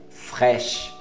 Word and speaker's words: fraîche: creme de leite, crème fraîche. Você não vai falar crème de lait, não, é crème fraîche. Fraîche, crème, não fala crème, crème, fraîche, para no CH, não pronuncia o E, fraîche.